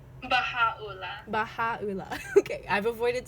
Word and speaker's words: Baha'u'llah: Is Baha'u'llah? Baha'u'llah.